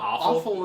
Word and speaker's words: offal: offal i'm pretty sure we're also pronouncing it wrong but like so at this point you've just created a new word oh is it really called awful isn't it that's how i have heard it hilarious how did